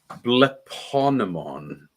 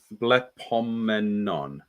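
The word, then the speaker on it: βλεπόμενον: Bleponemon. No, blepomenon. Yeah, bleponemon. Blepomenon. It's like an enemy.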